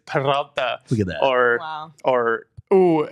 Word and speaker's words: Peralta: David Roll that Peralta. R. Let's hear it. David Peralta. It's Peralta.